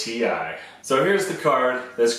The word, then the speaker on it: Ti: We're going to be talking about the correct way to pronounce the letters TI.